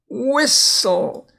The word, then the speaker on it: whistle: Thistle, it's a weed. And whistle. Again, notice the silent T, and again, the last two has the E's not pronounced either.